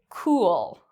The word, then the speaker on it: cool: This is very different from the word cool. Cool. In this case, my lips make a circle, cool, and it's a longer sound.